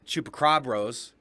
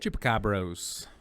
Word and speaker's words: Chupacabros: brain podcast he has los chupacrobros did i say it right chupacabros yeah so that's a fun one